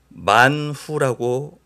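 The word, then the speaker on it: מן הוא: 만나에 관해서 잠깐 소개를 드리면 만나는 히브리어로 만후라고 읽습니다.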